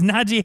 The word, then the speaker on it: Najee: n-a-j-e-e where do you get najee from he's like it's not g harris like my name is nadjie harris i've been tired of